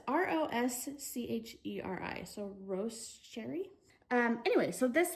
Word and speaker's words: Rosecherry: Don't know how to pronounce that. It's Roscheri, so Rosecherry.